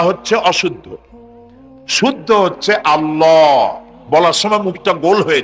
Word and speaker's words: আল্লাহ: নাম আল্লাহ বলেন তো আল্লাহ নয় কিন্তু আল্লাহ হচ্ছে অশুদ্ধ শুদ্ধ হচ্ছে আল্লাহ বলার সময় মুখটা গোল হয়ে যাবে বলেন তো সবাই উচ্চারণ করেন আল্লাহ আবার বলেন আল্লাহ আবার বলেন